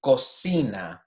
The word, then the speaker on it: cocina: Cocina. Another one with both. If an O is following it as well, it's going to be a hard C. Cocina.